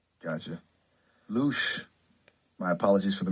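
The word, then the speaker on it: loosh: A louch farm. It's a new one on me. Yeah, it's spelled L O O S H. Gotcha. Luch, my apologies for the mispronunciation.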